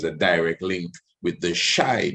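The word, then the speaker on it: Xi: And there was a direct link with the shy, the same shy people, X-I, that's how it's spelled.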